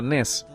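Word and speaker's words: נֵס: El asta en hebreo se pronuncia nes.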